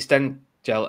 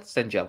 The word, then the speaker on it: Stengel: and then as you've already mentioned um katie sten gel uh stengel stengel i was getting wrong stengel sorry has joined